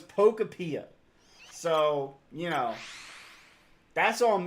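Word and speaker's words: Pokopia: I've been calling it Poctopia for the longest time and it was Pocapia.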